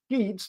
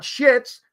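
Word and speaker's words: Sheetz: she was at Sheets let me pronounce that again sheets not shits sheets okay two e Convenience Store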